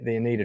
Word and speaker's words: Oneida: Who's from the Oneida tribe? Thank you. I was about to mispronounce that. So, Leroy, I'm glad you're here. The Oneida tribe.